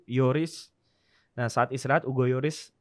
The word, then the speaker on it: Lloris: istirahat waktu itu yugoloris Yoris bacanya itu sebenarnya bukan Hugo Lloris Hugo Yoris nah saat istirahat Ugo